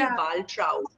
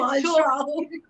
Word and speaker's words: Waltraud: It's called Waltraud. Yeah, So Waltraud. Waltraud, it's a very unusual German name. It's very harsh. It does. I don't look like a Waltraud at all.